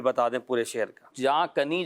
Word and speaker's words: جاں کنی: جہاں کنی جو ہے یہ صحیح تلفظ ہے ٹھیک جو ہے. لغت کے اندر موجود ہے.